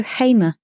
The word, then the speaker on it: Hamer: out to me that it is pronounced Gustavo Hamer, and he has sent me the video of Hamer pronouncing his own name as Hamer.